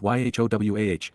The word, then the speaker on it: Yahowah: previously considered the fact that God's name is pronounced y wah that the set aart spirit is feminine that